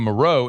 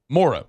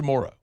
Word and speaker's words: Moreau: But it's Morrow. It's Foster Morrow. It's the man's name. It's how it's pronounced here. When he says his name, he says Morrow.